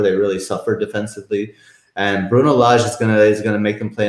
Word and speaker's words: Bruno Lage: Now, we mentioned all of these stats, and do we think really Bruno Lage, thanks for the correct pronunciation last week, Mariner, that was well done. Bruno Lage.